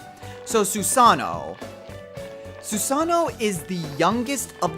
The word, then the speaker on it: Susanoo: don't pronounce it as Susanoo all you don't pronounce that ii l it's just Susanoo you elongate it why do I make